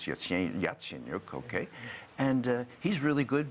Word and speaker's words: Yatsenyuk: trouble to you know learn how to pronounce his whole name it's Yatsenyuk okay and he's really